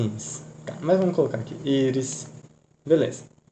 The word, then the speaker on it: Íris: Íris. Beleza. Íris, Amanda, Douglas. São palavras paroxítonas. Por quê? A sílaba cônica está na penúltima sílaba. Penúltima sílaba. Penúltima sílaba. Beleza.